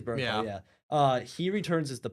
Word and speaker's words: Bernthal: So John Bernthal, I'm pronouncing that right. I always screw up. So. I think it's Bernthal.